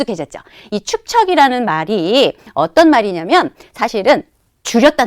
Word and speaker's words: 축척: 이것은 바로 축척이 겁니다 발음이 좀 어렵죠 축척 축척 자이에 축 척 한 번씩 발음을 한번 해 보는게 중요해요 왜냐면 이게 머릿속에 잘 안 들어오는 말이에요 사실은 굉장히 이게 좀 강하기도 하고 어 발음을 할 때 좀 어렵기도 하거든요 한번 해 볼까요 축 척 되죠 축척 응 자 초콜릿